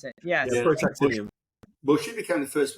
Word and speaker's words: protactinium: several new isotopes, and they discovered the element protactinium. Protactinium, that's very good. I've got to step in as the chemist in the room. Please do, because I can't pronounce it. Yes. Yeah, protactinium.